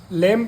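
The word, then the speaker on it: lamb: बी आया है इसको लम नहीं पढ़ेंगे लम पढ़ेंगे क्या पढ़ेंगे लेम एम के बाद भी आता है तो व साइलेंट हो जाता है लेम मतलब मेमना भेड़ का बच्चा ठीक है या फिर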